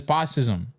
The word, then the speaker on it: fascism: The reason it works is because in in Tamil you pronounce fascism as posism.